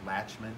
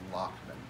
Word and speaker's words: Lachman: restraints are there all right so this is Lachman it's like latch meant but it's pronounced locked most of y'all are pretty stable if you